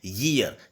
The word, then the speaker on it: year: आपको बताना चाहूँगा कि YEAR इसका जो सही में जो प्रोनाउंसिएशन होता है, इसे प्रोनाउंस हम करते हैं ईयर, यानी ये से बोला जाता है इस सेंटेंस को, ईयर। तो ईयर यानी ये से प्रोनाउंस किया जा रहा है, तो इसका मतलब यह